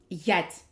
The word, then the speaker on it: ять: This is yat, and we use it with the sound ye. Ять.